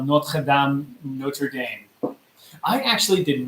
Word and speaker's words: Notre Dame: It's like how Americans call Notre Dame, Notre Dame. I actually did not know how to pronounce Notre Dame until we came to France. Mm-hmm. I was going around like an idiot. Saying Notre Dame?